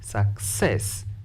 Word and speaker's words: success: The word success, stress the second syllable because it is longer.